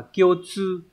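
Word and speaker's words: 共通: Từ này là cộng và thông, đọc là kyotsu. Và từ này mang nghĩa là chung. Đấy, thông thường nó dùng dưới dạng thức là kyotsu.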